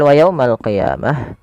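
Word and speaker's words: القيامة: Pada lafal wa yaumal qiyamah, wa yaumal qi, ini bukan ki ya, hati-hati dalam melafalkan qaf, jangan diganti dengan huruf kaf. Jangan wa yaumal qiyamah, nanti jadi huruf kaf. Dia adalah huruf qaf ya, lebih tebal hurufnya, dan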